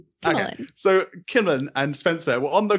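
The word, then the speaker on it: Kimmalyn: Like emphasis on the first syllable. Okay. So Kimmallen and Spencer were on the ground, not in the battle.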